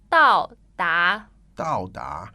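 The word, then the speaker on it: 到达: That is 到达 Dao da. fourth tone 到达 second tone.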